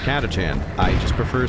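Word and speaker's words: Catachan: Like, fun fact, I actually do know it's pronounced Katachan. I just prefer saying katakin and also for for saying it that way because it makes people annoyed.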